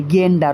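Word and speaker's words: gander: তাহলে এর sorry masculine জেন্ডারটা কি হবে? এর ম্যাসকুলিন জেন্ডারটা হবে গেন্ডার। Option D. অনেকে জেন্ডার উচ্চারণ করে তুমি গেন্ডার উচ্চারণ করবে।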